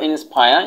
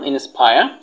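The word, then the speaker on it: inspire: তারপর হচ্ছে নাম্বার 3 হচ্ছে যে ইন্সপায়ার, অনুপ্রাণিত করা, তোমরা এটাকে বলতে পারো ইন্সপায়ার, এখানে রর উচ্চারণটা বাদ দিতে পারো, ইন্সপায়ার।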